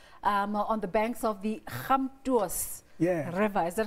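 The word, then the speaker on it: Gamtoos: Born on the farms of Human Stop, on the banks of the Khamtuos River. Is that how you say it? You pronounce it right.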